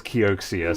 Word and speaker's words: Kioxia: However, everyone says Kioxia, so that's what I'm going with.